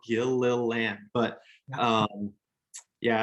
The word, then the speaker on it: Gilliland: Just last names are hard, and I really think mine's pretty easy if you can sound it out, Gilliland.